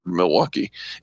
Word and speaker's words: Milwaukee: this let's move on there are three syllables in the word Milwaukee and uh in Milwaukee Wisconsin